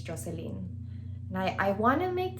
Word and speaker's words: Jocelyn: be very specific my first name is actually pronounced joseline joseline the reason why joseline stuck is because